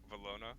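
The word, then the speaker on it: Valona: switch it up it's the way it's pronounced makes it seem like an e velona yeah but i can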